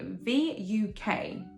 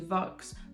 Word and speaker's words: Vuk: So it's with Vuk, I hope I'm pronouncing his name right, V-U-K. I think that's Vuk. That's not my head. It sounds like I'm saying F-U-C-K, but I'm not.